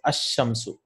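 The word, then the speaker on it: الشمس: It's ash-shamsu. So you see, you don't pronounce this lam.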